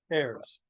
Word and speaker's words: Ayers: iers David is it Ires or heirs heirs heirs okay we actually pronounce it wrong yeah okay heirs like AJ airs but yeah we're not